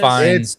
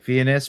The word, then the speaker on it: Fiennes: No, it's kind of weird because the way his name is spelled, you would think it's Ralph, like Fiennes, but it's Rafe Fines.